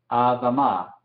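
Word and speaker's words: אֲדָמָה: Ven que tomamos el sonido de este shewa compuesto con patak, entonces lo decimos como a. Adama.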